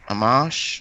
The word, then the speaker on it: Amash: Do you know how to pronounce it? Amash? Oh, Justin Amash. Justin Amash, yeah.